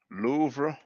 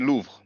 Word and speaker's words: Louvre: you have so when we pronounce it it's like one syllis um lots of words